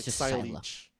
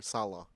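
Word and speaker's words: Saileach: this uh features operator sila. It's it has a weird spelling. It's like s a i l e a c h. It's like silage, but you pronounce it as sila or salah.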